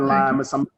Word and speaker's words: Lymous: not it right uh my name is lima police department i've been there approximately 20 years